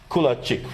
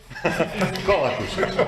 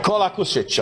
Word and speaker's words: Kolakušić: And another colleague from Croatia, Kulačić, right? Do I pronounce it correct? Right now, not. Kolakušić. Kolakušić, I know it's tough with all these names.